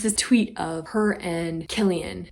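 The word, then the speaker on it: Cillian: tweet of her and Killian which is spelled with a c but pronounced with a K I'm pretty sure Killian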